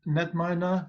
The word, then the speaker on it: KnetMiner: organisms such as wheat so netminer was a silent K and standing for knowledge